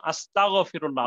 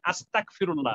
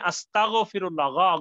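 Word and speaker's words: أستغفر الله: বলি আস্তাগফিরুল্লাহ, শব্দটা কিন্তু আস্তাগফিরুল্লাহ, গাইনের উচ্চারণটা যেন সুন্দর হয়, নাহলে অর্থ কিন্তু পরিবর্তন হয়ে যাবে, আমরা যদি কাপের উচ্চারণ করি যেন আমরা বলি আস্তাগফিরুল্লাহ, তাহলে অর্থ কি হবে,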